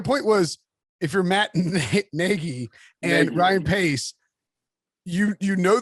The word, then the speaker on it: Nagy: It's just but we found out it's Nagy. That's yes, I knew it was Nagy, but at any rate,